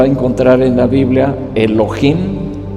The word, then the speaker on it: Elohim: Y estando Dios como Elohim, usted lo va a encontrar en la Biblia, Elohim, e L o H muda y latina M.